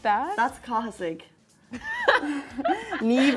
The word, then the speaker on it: Niamh: Niamh is like Niamh. There's no V.